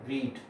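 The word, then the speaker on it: read: जैसे पढ़ना, रीड, रीड, रेड, रेड, रीडिंग। अब यहाँ पर जब मैंने रीड, रेड, रेड बोला तो स्पेलिंग वही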